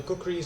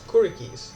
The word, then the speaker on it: kukri: I don't know why, but I always pronounce the kukris as kurikis. I don't know why I pronounce them like that, but it's pronounced a kukri.